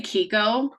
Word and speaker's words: Kiko: It's I don't know if it's an official name that he has, but is it Keiko or Kiko? How are we pronouncing his name? We Kiko. just say Kiko.